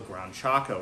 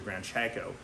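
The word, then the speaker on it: Gran Chaco: they're actually found in a region called the ground Chaco or the grand Chaco however you want to pronounce that I've heard it pronounced both ways don't get mad at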